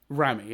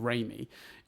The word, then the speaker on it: Raimi: that you will have, if I say Sam Rami, as I've been pronouncing it instead of Raimi, I'm convinced you'd have said Rami in the immediate aftermath.